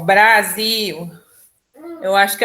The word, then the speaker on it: Brasil: a gente chama cachorro Brasil e não brázio né Natal e não